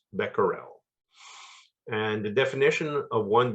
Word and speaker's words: becquerel: in Canada we use uh the term beccarells pronounce becquerel and the definition of one becquerel is the